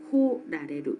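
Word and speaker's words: 来られる: 스루는 그냥 그 우게미가 사레루라는 형태로 있고, 쿠루는 코라레루, 고라레루라는 게 있죠. 좀 조심해야 될 거는 이 쿠루를 루가 오쿠리가나로 올 때는 이거를 쿠라고 읽는데, 뒤에 라레루가 오쿠리가나가 되어 있을 때는 코라고 읽는다는 거에 조금 그 조심을 해야 될 것 같습니다.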